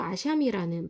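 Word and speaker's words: אשם: 히브리어로 아샴이라는 발음이 나는 단어인데 허물이라는 뜻이에요.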